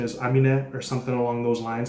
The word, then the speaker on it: Aminé: the correct pronunciation is amine or something along those lines i don't think that last e is silent because it's got an accent on it yeah we're gonna be